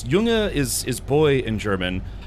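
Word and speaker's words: Junge: Um oh, I'm trying to remember how to say young uh oh gosh, how do I know it's yunga is is boy in German.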